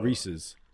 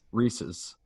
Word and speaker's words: Reese's: literally said like it it is meant to rhyme with pieces that's why it's rhesus it's like plus it's it's it it belongs to him it's it's reece yeah rhys reese's sure exactly exactly thank